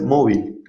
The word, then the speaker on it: móvil: But Ken says mobile. Interesting. Because Ken is right. Mobile, with an accent on the O, mobile, is the word that Spaniards would use to refer to a mobile phone or cell phone.